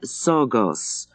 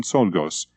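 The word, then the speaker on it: Czolgosz: "Anyway, we think we can pronounce the name," said Martha, and she pronounced Leon Sorgos, with two slushing sounds.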